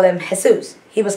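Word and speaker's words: Jesús: j-e-s-u-s you know like jesus but we would all call him jesus he was called jesus because that's how they pronounce it the j is pronounced like an h so you know you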